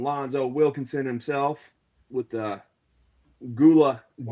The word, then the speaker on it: Gullah Geechee: And then we got part of the Savage Syndicate, none other than Lonzo Wilkinson himself, with the Gula. How do you say that? Gula Gullah-Geechee.